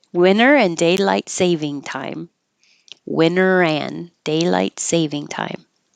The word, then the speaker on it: daylight saving time: Winter and daylight savings time. Oh, no S. Winter and daylight saving time.